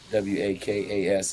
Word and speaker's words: waka: they call them wakas it's like the rapper walker flock of flame they're called wakas w-a-k-a-s is how you kind of pronounce it wakas yeah so they went